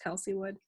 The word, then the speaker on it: Kelsey Wood: It's pronounced Kelsey Wood.